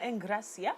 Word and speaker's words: Engracia: Well, back in the studio, I have Jokoa with me and Engracia, of course. I like to pronounce it that way. It's the right pronunciation.